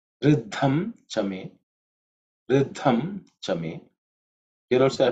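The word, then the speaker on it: ऋद्धं च मे: So the me actually becomes ma because of Sandhi.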